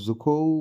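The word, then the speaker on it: Dzükou: और डजुखो जुखो valley D silent रहेगा यहाँ पे।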